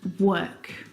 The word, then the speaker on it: work: but this is incorrect the vowel sound is actually uh as in her work world word uh